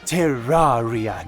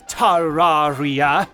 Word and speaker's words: Terraria: where to do it it's pronounced terraria not terraria it's all of yours